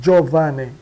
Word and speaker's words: Giovanni: O G e o I. da Jo, jo de, né? Di ele, esse aqui fica quase eh não não aparece na na na pronúncia, né? Giovanni.